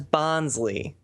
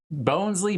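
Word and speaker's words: Bonsly: That's Bonsley. Bonesley, Bonsley, it's all the same. Oh Lord. It doesn't have an E.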